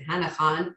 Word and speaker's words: Hana Khan: what happened 40 years ago is this book hannah han the author pronounces in hanakon carries on which is written partially in an